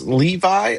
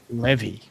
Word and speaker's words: Levy: And Jonathan, is it pronounced Levi or Levy? Levy. Levy. Levy. Okay. Cap, you were right. I was wrong.